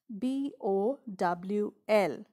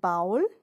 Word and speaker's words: bowl: pronounce this word often now how do we pronounce b-o-w-l is it bowel no it's bowl bowl i have a bowl